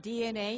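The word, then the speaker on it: DeNA: about your company uh well DNA uh it's pronounced DNA in Japan was founded in 1999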